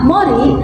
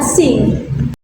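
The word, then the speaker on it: 森: Kunyominya dibaca mori, sedangkan onyominya dibaca sing.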